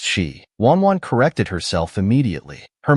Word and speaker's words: Xi: Anne's expression was Indescribable the name is pronounced shei wanan corrected herself immediately